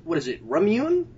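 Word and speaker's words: Ramune: just hear me out it's the drink is pronounced ramun and she mispronounces it hello hello it is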